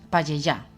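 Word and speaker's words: Pallejà: Payellá, Barcelona. Sí, sí, bien pronunciado porque yo no lo digo.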